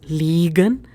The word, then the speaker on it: liegen: So understand the pronunciation. It's liegen and it's legen. Legen means to lay something.